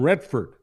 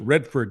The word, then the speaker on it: Redford: you use the name Redford, you don't pronounce it Redford, you pronounce it Redford. Yeah, that's right. Emphasize the red because she's a commie.